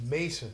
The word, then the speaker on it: Maison: your name is spelled it's not m o n it's I'm get m a i s o n MH so it's Mason that John j o